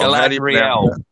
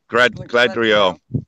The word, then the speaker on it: Galadriel: How do you pronounce that? I've forgotten because I haven't watched the movies for so long. Galadriel. Gladriel.